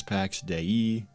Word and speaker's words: Pax Dei: the Divine peace and is officially pronounced as Pax day and I never pronounce